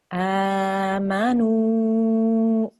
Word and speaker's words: آمنوا: A waw madda is a waw with a sukoon, but the letter before it carries a dhamma. Dhamma. You will then prolong this letter with the dhamma for 2 seconds.